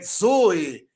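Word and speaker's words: ζωή: dez por exemplo na palavra vida que é Zoe Zoe Zoe que é vida depois do Zeta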